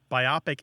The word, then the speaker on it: biopic: I and the O It's divided between the O and the P um i' estimate about